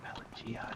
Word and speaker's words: Pelagiad: I don't think I like Pelagiad. It's how you're supposed to pronounce it.